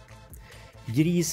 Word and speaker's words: gris: greece means in swedish it's spelt like this and it's pronounced the same sort of we say greece griez means pig yeah that's